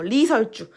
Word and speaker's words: 리설주: 자, 두음 법칙, 아까 방금 얘기했던 거, 리설주. 앞에 리을이 오는 거를 굳이 이응으로 바꿔주지 않아.